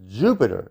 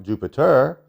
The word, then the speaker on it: Jupiter: All planets are properly pronounced with the accent on the first syllable, right? It's Saturn, not Saturn. It's Jupiter, not Jupiter.